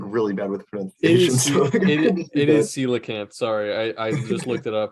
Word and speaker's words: coelacanth: even say I'm like really bad it is coelacanth sorry I I just looked it up it's on Wikipedia the pronunciation yeah but that is like dude that's